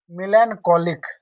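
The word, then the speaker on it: melancholic: मिलन कोलिक। यहां पे हम सी एच का उच्चारण क करते हैं।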